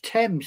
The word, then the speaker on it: Thames: It's Thames. It's TH. The H is silent.